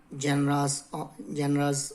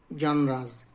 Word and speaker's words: genre: different parts of different genres of literature. Different genres, sorry for wrong pronunciation, genre, different forms of literature.